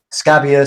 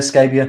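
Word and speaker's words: Scabbia: them that much yeah christina scabia yeah you pronounce it scabia scabia thank you she's she sang on the uh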